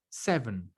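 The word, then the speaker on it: seven: Pero ya, el número 7, la primera E se pronuncia con los labios estirados. La segunda E se pronuncia con los labios relajados. Entonces yo digo 7. 7. Y los dos son E y se pronuncian distintas.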